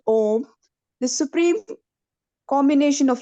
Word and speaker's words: Om: So here, when we are saying Om, Om, we didn't move our lip, so it's 1 syllable.